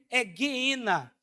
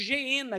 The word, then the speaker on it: Geena: é Gina ou Dina na pronúncia correta no grego hegna mas nós pronunciamos geena que também é produzido